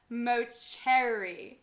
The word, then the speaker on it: Mauceri: started with matcha talk with the incredible Bart moseri hello everyone and thank you so much for joining me on this wonderful episode of matcha talk with the incredibly talented Bart moseri pronounced in Italian as Bart moer did I say that right uh moer moer